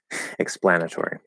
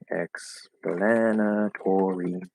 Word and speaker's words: explanatory: different topic um okay so cedant how to pronounce explanatory like that explanatory explanatory explanatory um so the explanatory it has two